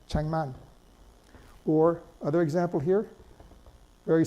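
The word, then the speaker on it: 책만: If you put them together, it's pronounced cheng, chengman. The Keough, the K, is pronounced eng in front of the N, cheng, chengman.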